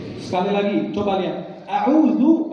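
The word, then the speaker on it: أعوذ: A'udzu pakai dal, bukan zai. Kalau pakai zai artinya bukan aku, kalau pakai dal aku berlindung dari godaan syaitan.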